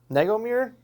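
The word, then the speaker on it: Negomir: race uh and then second race uh Kyle nego mirror spell it n-e-g-o-m-i-r yeah I would I would say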